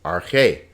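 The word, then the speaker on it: ἀρχή: Notice this alpha has a smooth breathing mark. It's not pronounced, so this is just arche.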